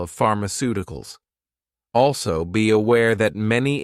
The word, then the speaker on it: pharmaceuticals: You may realize that for words ending in ical, the stress normally falls on the syllable before ical, i.e., the third to last syllable in the word.